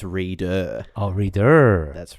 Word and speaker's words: Reeder: Well, you have to extend the read by two more characters because it's reader.